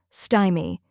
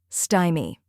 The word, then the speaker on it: stymie: rhymes with my and sounds like the beginning of style next is me which sounds like the word me now let's put it all together sty me try repeating after me sty me now a little faster